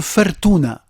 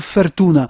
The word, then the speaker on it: fortuna: tunisien, sous la forme fortuna. Et donc, fortuna très proche de la prononciation italienne, assez proche de la prononciation française avec fortune, un mot